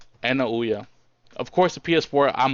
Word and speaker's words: Ouya: At this point, I am closer to buying a Wii U and Ouya, or Oya, as it's pronounced here in America.